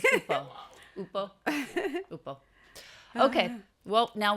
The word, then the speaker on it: Ukpo: It's not a hard K. Right. It's just Upo.